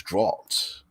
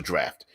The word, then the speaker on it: draught: I thought it was draught, like in caught. But it's a draft.